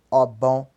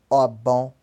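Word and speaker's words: ọgbọ̀n: Então 20 pronuncia-se ogum, 30 pronuncia-se obon, obon, 40 pronuncia-se ogodi, perdão, 40 pronuncia-se ogodi, não ogodi, ogodi, tá?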